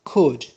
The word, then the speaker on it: could: model verb which is could here l is silent is tata it is